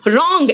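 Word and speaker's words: wrong: Next out W silent है, it's right, W silent है, देखो रैट, रैट मतलब गुस्सा, रिंग, रिंग मतलब निचोड़ना, ऐसे जैसे पानी निचोड़ते हैं, रॉन्ग एंड रैप, देखो सब जगह डब्ल्यू साइलेंट है ना।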